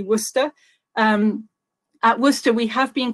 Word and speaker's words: Worcester: from University of Wooster which is not pronounced war sister or Worchester I know it looks a bit weird but it's actually Wooster at Wooster we have